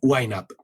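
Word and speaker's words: YNAB: need a budget y sus iniciales son yna a b no en inglés se pronuncia wiap y ahora ya no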